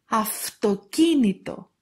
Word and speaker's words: αυτοκίνητο: Αυτοκίνητο, αυτοκίνητο. Ευχαριστώ, ευχαριστώ. And also they pronounce like av and ev before a vowel or before v, γου, δου, λου, μου, νου, ρου.